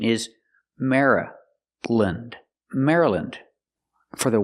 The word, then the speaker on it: Maryland: Maryland. For the Y, we don't say Mary, we say Mara. We make a short sound, Mara.